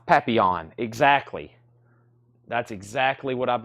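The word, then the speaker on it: Papillon: I pr that it was much more it's pronounced papon exactly that's exactly what I've been saying we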